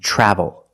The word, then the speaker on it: travel: Another situation where T makes a ch sound is TR. When you have TR together in any situation, you can pronounce it ter, but usually we don't. We pronounce it ch plus the R sound, chur. Example, train, truck, tree, and travel.